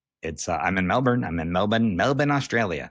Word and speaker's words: Melbourne: That's how they say it, Melbourne. But I don't say it like that. There was a city in Florida called Melbourne. And that is how I say it because I'm American.